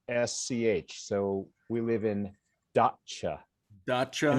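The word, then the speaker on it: Datça: living in in this area in turkey called dhaka is that correct uh almost dacha i had to make that correction when i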